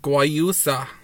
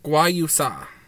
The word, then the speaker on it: guayusa: Magic of chia plus clean energy of guayusa. We lovingly combine the powerful nutrients of chia with our clean energy of guayusa. Oh, guayusa.